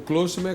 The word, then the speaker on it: Klostermann: O Klosterman é como se pronuncia. KLOSTERMAN. TRMANN. São dois só N's no final. dobra o N.